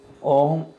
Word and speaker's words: ओम: ओम में उच्चारण में आपके यहाँ पे जहाँ पे नाभि होती है ना, वहाँ से आवाज़ स्टार्ट होती है ओम।